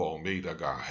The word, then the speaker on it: Almeida Garrett: três grandes autores do romantismo em portugal o almeida garrett air é assim que fala tá se eu não pronuncia esses dois três ao mês dh hair